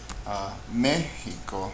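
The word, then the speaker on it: México: Mexico, me is the louder syllable, it's estrujula, we'll mark it.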